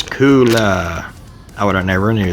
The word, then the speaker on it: Kuulaa: to pronounce that k-u-u-l-a-a let's find out how to pronounce that cooler cooler okay the brand name is cooler i would have never